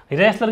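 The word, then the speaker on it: wrestler: तो ही इज the stronger of द टू रेसलर्स, रेसलर की spelling WREST आता है, ध्यान रखना, साइलेंट रहता है, कहीं दिमाग मत लगाना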